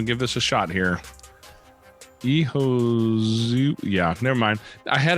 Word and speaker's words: Ehiozuwa: Ehiozuwa, or say, I'll let you say it, Faith, because you'll get it much more right than me. Well, you try. I give you that. So it's pronounced Ehiozuwa.